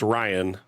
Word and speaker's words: Rain: Is it Rain or Ryan? Because I've seen it spelled that way, but pronounced Ryan. So, gotcha.